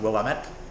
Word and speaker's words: Willamette: Willamette. It's pronounced Willamette.